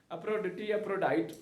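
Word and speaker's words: Aphrodite: और इस मंदिर की जो देवी थी उसको कहते हैं अफ्रोडाइट, अफ्रोडिटी अफ्रोडाइट अंग्रेजी में उसे कहते हैं, प्रोनाउंस करते हैं।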